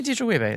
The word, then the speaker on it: Adejuyigbe: Demi Adejuyigbe is here. Hello. Did I You pronounce it?